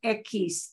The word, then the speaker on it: equis: this word um this letter here is called ekis ekis uh piece is the name of a